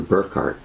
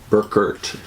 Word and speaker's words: Burkert: I enjoyed this book Walter Burkhart Burkert is probably a better pronunciation Walter Burkert arbor karat if it's German ancient mystery cults I